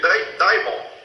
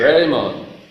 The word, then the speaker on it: Raymond: Como é que pronuncia o sobrenome dele? Daimon, é isso aí? Raymond. Caião Raymond. Raymond, é isso, Raymond. Eu falei Diamond, estava com diamante na cabeça, acho que foi o...